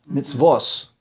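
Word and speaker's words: מצוות: say necessarily mitv mitzvas mitzvos right where you hear them say an S sound instead of a t that's where they're pronouncing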